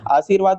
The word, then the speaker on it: आशीर्वाद: ध्यान दें कि र की मात्रा हमेशा उस वर्ग पर लगती है जिससे पहले उसका जो है उच्चारण होता है। यहां पर देख सकते हैं आशीर्वाद में र का उच्चारण भी सी के बाद और व से पहले वाला इसी कारण से र